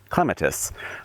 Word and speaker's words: clematis: This is clematis, or as the British say, clematis.